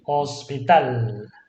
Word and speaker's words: hospital: Hospital. Hospital, okay, hospital. Hospital, stress on the last syllable.